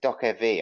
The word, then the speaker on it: Dokev: Yeah, I think you pronounce it Dokev actually. Right, Dokev. Right. Wondering how to pronounce Dokev? Read it as Dokev.